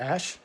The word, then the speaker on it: Asch: But you can look it up now, and that's spelled ASCH. And so Ash actually quantified how often